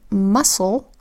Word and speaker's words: muscle: in muscle, the C makes the soft C sound S, and so it works together with the S to just say S, S, O.